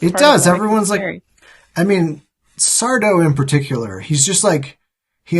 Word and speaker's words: Sardo: Sardo, no Mr. Accent on the dough.